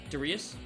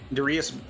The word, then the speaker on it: Darius: he's like yeah so how do you pronounce it again darus Darius darus B how do I pronounce it I just say Darius pronunciation tier list coming